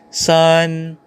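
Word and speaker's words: 三: r r r next we have number three sun sun number four su number five number six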